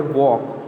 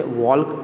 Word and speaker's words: walk: तो यहाँ पे पहला वर्ड है वॉक, WALK, वॉक। तो यहाँ पे जब भी हम वॉक शब्द को मीन्स लेटर को जब प्रोनाउंस करते हैं तो L होता है, वो क्या होता है, वो वर्ड साइलेंट होता है, वॉक। हम उसे वॉल्क ऐसा रीड नहीं करते, वॉक, ठीक है।